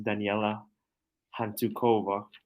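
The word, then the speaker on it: Daniela Hantuchová: So this is an Americanized way of saying a Slovak name. So her name pronounced in English is Daniela Hantukova. Daniela Hantuchova.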